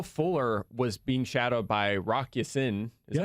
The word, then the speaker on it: Rock Ya-Sin: But Will Fuller was being shadowed by Rock Ya-Sin. Is that how you pronounce that? Rock Ya-Sin, yeah.